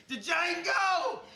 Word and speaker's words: Django: Django! You black son of a bitch! The D is silent here, baby.